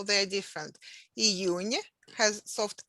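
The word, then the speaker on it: июнь: and symbolized abundant nature e union is june in russian is pronounced with soft n at the end named after the ancient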